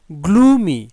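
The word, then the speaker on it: gloomy: গ্লুমি, GLOO, glue, MY মি, গ্লুমি। কিন্তু single যখন থাকে MY আলাদাভাবে থাকে তখন কিন্তু ওটা মাই উচ্চারণ হয়।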